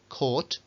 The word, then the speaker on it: caught: Bueno, por ahí un par de excepciones que lo que hacen es no con OU, sino con AU, aunque la pronunciación es con una O larga, igual que las de arriba.